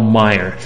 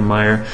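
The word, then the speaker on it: Maier: Now, I want to share a very brief email from Dr. Paul L. Meyer. That's spelled M-A-I-E-R, and you can check him out on the web.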